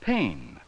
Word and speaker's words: pane: the word that's right it's pain with the long a sound let's spell it p